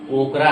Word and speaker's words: okra: असल में भिंडी को लेडी फिंगर नहीं बल्कि ओकरा कहते हैं। क्या कहते हैं? ओकरा।